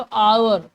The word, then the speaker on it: hour: जैसे लिखा हुआ है HOUR, पर पढ़ते क्या है इसको, आवर। ठीक है, आवर।